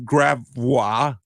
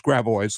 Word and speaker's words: Gravois: For example, we have Gravois. No, it's Gravois, ladies and gentlemen, of course.